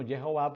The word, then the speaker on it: Jehová: Y le rindas culto, puesto que Jehová, y pronuncio no Yahweh, sino Jehová, porque también es parte de todas estas investigaciones arqueológicas recientes que están aclarando que el nombre correcto, aunque ahí dice Yahweh, pues la pronunciación debe ser Jehová, tu Elohim los ha